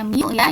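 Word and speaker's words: μ: gesek besarnya gimmes kita lihat ini apa Bu dibacanya Mia ini koefisien gesek kalau ada es berat ini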